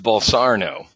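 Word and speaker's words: Bolsonaro: why one word Trump well actually his it's pronounced ball Sarno right Boston ro we got in this is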